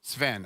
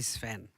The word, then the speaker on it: Sveen: of a long story it's actually two syllables but we don't pronounce it that way here the two e are